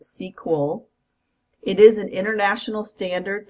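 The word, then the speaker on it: SQL: sequel which stands for structured query language it's pronounced sequel it is an international standard that's used and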